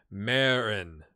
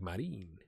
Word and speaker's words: Marin: It'd be pronounced Marin. Marin. Marin. You don't put the twist on it like Marine.